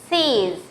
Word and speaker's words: six: Although you write 6 here, you pronounce it as six.